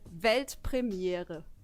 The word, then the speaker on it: Weltpremiere: It's actually Weltpremiere. Pretty similar, right? I think I could do that. Yeah. Do it. Weltpremiere.